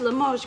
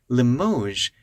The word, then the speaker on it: Limoges: Most people watching this may not know what Limoges really means, but you can tell it's a French pronunciation because most English words don't have that je sound at the end.